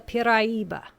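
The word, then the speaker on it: Piraíba: It is called the Piraiba, pronounced in 4 syllables.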